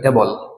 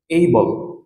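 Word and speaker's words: able: Number 16, 16 number ward, যেটা আমরা বলে থাকি এবল, এবল। তো এই ওয়ার্ডের ক্ষেত্রে আমরা আর এবল বলবো না, এটার উচ্চারণ হচ্ছে এই বল, এই বল, এই বল, এই বল, এই বল, এই বল, যেরকম করে আমরা প্রনাউন্স করছিলাম।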